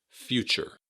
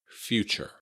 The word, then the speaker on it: future: Note that the stress is on the first syllable, few, and the TU sound in the middle adds kind of a ch, like a CH. Future. Future.